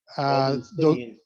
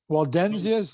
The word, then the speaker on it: Waldensians: Waldenstinian. Pardon me? Is it the Waldenstinian? Waldensians, is that what Yes. you mean? Yeah, I'm not even saying it right.